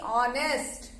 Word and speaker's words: honest: Okay, when we are speaking this, first speak with me, honest. H is silent.